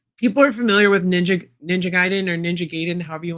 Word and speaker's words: Gaiden: Yes, that's the name. That's how you say it. Not a lot of pictures. Just this one crouching pose coming soon. But I think that's a cool figure. Ninja Gaiden.